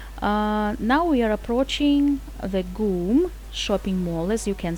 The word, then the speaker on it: GUM: length of two and half football fields the Goom we pronounced it as goon departments war was built over hundred years ago Moscow school mr.